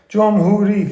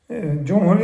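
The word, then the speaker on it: جمهوری: 3 syllable. Jomhuri. 3 syllable. It's high. Whichever one people like more. Jomhuri is Persian.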